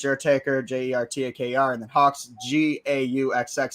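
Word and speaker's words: Gauxx: Taker j-e-r-t-a-k-r and then Hawks g-a-u-xx silent G pronouncing an H double X and entertainment spelled correctly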